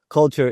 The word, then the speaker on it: Culture: Culture is the partnership.